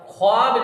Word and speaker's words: ख्वाब: जो वाव होता है ये वाव नहीं पढ़ा जाता यानी ये साइलेंट रहेगा इसकी आवाज नहीं निकलेगी इससे खवानी लिखा तो खवानी है लेकिन खानी पढ़ा जाएगा ख्वाब लिखा जाएगा मगर खवाब पढ़ा जाएगा खज गान लिखा जाएगा